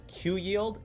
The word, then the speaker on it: QYLD: like qild and ryld can actually be pronounced just like q yield and r yield which just blew my